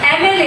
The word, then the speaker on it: MLA: Example देखते हैं, dash MLA लिखा है, अब देखो MLA, इसको ये M क्या है कॉन्सोनेंट है लेकिन हम इसका प्रोनाउंसिएशन कैसे कर रहे हैं एन, तो हिंदी में कैसे लिखेंगे एम।